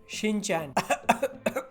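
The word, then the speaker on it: Shin-chan: 1992 का anime शिनचैन जो भी आप कहना चाहते हो आप कह दो, फोन को बस साइड में रख के कहना, जिसका आई थिंक बेटर प्रोनाउंसिएशन होता है शिनचान।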